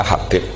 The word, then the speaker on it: Habib: Itu di harokatnya kitab itu ada yang nulis Hubab, tapi yang benar yang benar itu bacanya Habib.